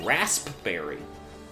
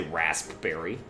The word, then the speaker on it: raspberry: they're like my favorite you ever wonder why there's a P in that word cuz I do cuz he all pronounce that you don't say rasp berry kind of weirdo says raspberry oh that was a